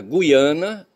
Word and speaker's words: Guiana: Gui por conseguinte, no Brasil deve-se pronunciar guiana com o ditongo ui, tá certo?